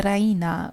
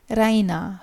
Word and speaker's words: Raina: of good news Reina she pronounces it the Reina with the stress on the e Reina she goes to